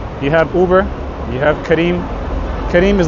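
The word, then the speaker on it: Careem: question Transportation Transportation you have Uber you have Karim Karim is like the equivalent of uber it's spelled c a r e e m which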